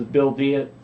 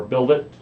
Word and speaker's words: Build It: This is Bill Diet, or Build It, signing off. I keep saying Bill Diet because that's the way it's spelled. But I wanted it to be Build It. So B-I-L-D-I-T, but Build It.